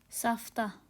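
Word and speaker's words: סבתא: साफ्ता, sorry just a minute, yes अभी हो गया, साफ्ता।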